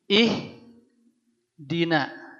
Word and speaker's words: ihdina: ihdina kita bacanya ihdina Kenapa baca ihdina karena lihat di huruf ketiganya huruf Dal ini berharakat kasrah huruf hidup setelah Hamzah wasal ini ya barisnya I dibaca i juga ini ihdi Kalau dari